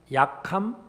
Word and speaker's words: 약함: 발음을 잘 하셔야 됩니다. 약함, 악함.